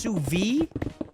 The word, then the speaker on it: sous vide: Maybe it's Sous Vide. Sous vide is, I think, how you pronounce it.